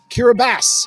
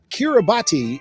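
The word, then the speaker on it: Kiribati: is how it is kirbas is how it is pronounced locally however it kirati is also an accepted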